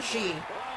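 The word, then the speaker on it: Zhi: And if that's still a mouthful for anybody, just call her Xi. Z-H-I. There you go.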